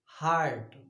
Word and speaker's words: heart: हार्ट देखो यहाँ HEART हार्ट होता है, इसका प्रोनाउंसिएशन हार्ट होता है। You have to pronounce it हार्ट।